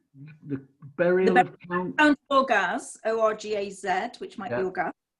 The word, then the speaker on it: Orgaz: The burial of the Count of Orgaz, it's probably Orgath actually, O-R-G-A-Z, is usually considered amongst